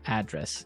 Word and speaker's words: address: live Y and there the stress is on the first syllable address right perfect very good okay